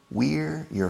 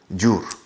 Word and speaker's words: your: Es como una I latina. Your. Spanish people, you have problems with the Y. You convert the Y into an English J. Jur.